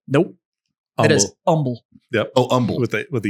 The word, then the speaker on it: Humble: Humboldt. Nope. It is Humble. Oh, Humboldt. with a U. Humble, Texas. It's a quiet H.